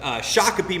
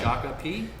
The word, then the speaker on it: Shakopee: We'll get into this, but Shakopee, Minnesota is where this beer's from. Say Shakopee? Shakopee, yeah. Shakopee, yeah. You can pronounce it different ways, but Shakopee's the deal.